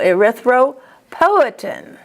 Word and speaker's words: erythropoietin: And then poetin, the accent is on po, erythropoietin.